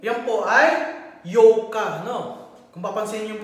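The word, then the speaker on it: ようか: Yan po ay yoka, no? Kung papansin niyo yung pronunciation ng bibig ko, kung pakikinggan niyo maigi, yoka.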